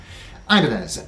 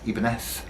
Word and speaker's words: Ibanez: talk to you about for a few seconds ivanez as we all call it in the western speaking world the correct pronunciation is in fact ebenef which is because originally the name came from